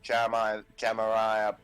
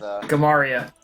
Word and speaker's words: Gamaria: So, I'm going over to the area that Jamaria, however the fuck you pronounce its ship, is Gamaria. Gamaria.